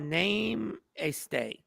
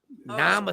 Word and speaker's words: namaste: So Joy said name a stay. Namaste. pronounced namaste.